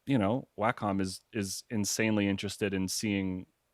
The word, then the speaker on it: Wacom: larger companies like Wacom, which is actually how you pronounce it, because I thought it was Wacom, but apparently it's like we were Wacom. schooled, ladies and gentlemen. Yeah, we were schooled by four Wacom employees who have like a combined 100 years. They're like, it's Wacom. So nice to meet you. It's pronounced Wacom. It's Wacom.